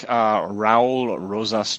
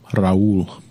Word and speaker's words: Raul Rosas: I think Raul Rosas Jr. However you pronounce that. That sounds right. Yeah, Raul.